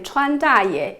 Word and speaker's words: Chuan Da Ye: “Chuan” in Trump’s Chinese nickname “Chuan Da Ye” is the Chinese pronunciation for Trump.